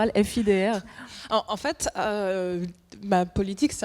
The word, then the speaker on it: Fidr: Moi je dis fidre mais quand les gens me disent fidè bah je les corrige pas en fait.